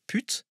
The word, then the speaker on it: Püt: Ich muss den Deutschen jetzt erklären, dass Püt, französisch ausgesprochen, also mit Ü und nicht mit U, die Abkürzung von Putain ist, auf Deutsch, Hure.